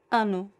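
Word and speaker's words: ano: In Portuguese is anu. Anu. Anu. Anu. The fa first i is nasal. And the last word, the last letter o can be anu.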